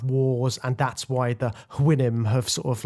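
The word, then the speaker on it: Houyhnhnm: And then there's the horses, the Huinim, I think that's how you say it, Huinim.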